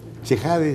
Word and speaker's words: Chehade: ¿Chejade se pronuncia? Sí.